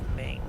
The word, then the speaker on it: Ming: later that was from flash gordon temperament it's pronounced ming sorry okay here we go the last fueling